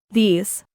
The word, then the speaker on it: these: Fíjate en estas dos pronunciaciones, se parecen pero no son iguales. This. These.